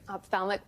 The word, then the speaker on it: ophthalmic: And doctor, the first thing you're going to do is you're going to correct my pronouncer on that. What is it? Great. Ophthalmic plastic.